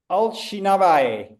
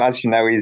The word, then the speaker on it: Alawi: And maybe maybe I my pronunciation of especially the surname uh was not uh was not up to up to speed, but, are you there? Alinawi. Yeah. Yeah. alawi, that's my name.